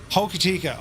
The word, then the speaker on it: Hokitika: My phonetic pronunciation is Hoki. Hokitika.